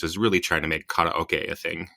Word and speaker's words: karaoke: really trying to make karaoke a thing, Right. Everyone's like, it's karaoke. Actually, it's karaoke. It's not karaoke.